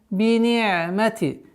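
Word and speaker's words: بنعمت: Все мягкие звуки. Не надо себя утруждать. Мягко, нежно, спокойно произносим. Бини'мати. Айн, не утруждаем себя. Бини'мати. Естественно, когда говорим не утруждаем, это не означает, что аннулируем свойства звука айн.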